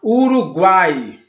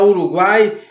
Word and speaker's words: Uruguai: Por exemplo, na palavra Uruguai. Percebam, Uruguai, guai. Você percebe que começa com um mais discreto, passa para um A mais aberto, mais forte, mais presente e volta para um I mais discreto.